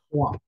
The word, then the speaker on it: trois: Se escribe de esta forma, Trois, pero la forma de pronunciar será Trois. Trois.